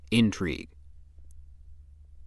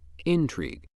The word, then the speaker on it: intrigue: If word 12 is being used as a noun meaning crafty dealings or underhanded plotting, it is pronounced intrigue. Intrigue.